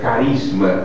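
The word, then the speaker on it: χάρισμα: graça como um dote veio da palavra grega que se pronunciaria carisma para nós, que é um presente, um dom ou um agrado.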